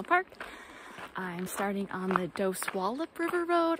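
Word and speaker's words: Dosewallips: Dos Wallop River Road I've also heard it's named OC Wallops so I'm not quite sure on the pronunciation the Rangers did tell me doci wallets I swear so go with that so Josie loves River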